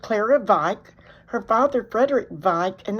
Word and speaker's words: Wieck: Her father, Frederick Wieck, and that is pronounced with a V because it's German.